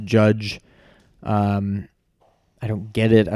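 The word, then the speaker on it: Jydge: what I thought was called judge JY DGE apparently still pronounced judge I don't get it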